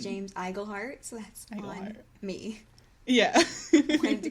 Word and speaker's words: Iglehart: uh in uh in our last episode I mispronounced The Voice actor's name it's James iglehart I said engleheart CU I always put an n in his